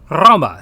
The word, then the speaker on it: Roma: it does in English the long o sound for instance is the same as in the English word toe so the Latin word for Rome Roma is pronounced well Roma spelled r o long